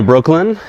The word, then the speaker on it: Breukelen: Welcome to Breukelen, the Dutch version, the original version.